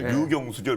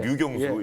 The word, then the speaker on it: 류경수: 그 발음 잘해야겠네요. 예. 류경수죠, 류경수. 예. 북한 군인. 네, 네, 류경수. 예. 거저기가 아니고 류경수입니다.